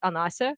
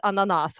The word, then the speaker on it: Ana: with like this Greek version quote unquote ana which is how people who like me and all my friends you know relatives call me and people couldn't pronounce it so they pronounce it ananas all the time or ananas something like that which is pineapple in you know and